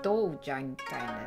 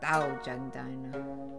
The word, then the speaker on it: Dojang Diner: It's different how it's pronounced here. Okay. It is different. Yeah, Dojang Diner, not Daojang Diner.